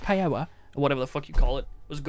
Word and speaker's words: paella: yellow or how jabber it's not peanuts paella it's pronounced paella or whatever the [